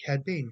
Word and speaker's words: Cad Bane: it sounds very familiar and it sounds like cad bane i believe that's how you pronounce it cad being correct yes cadbade sorry about that i always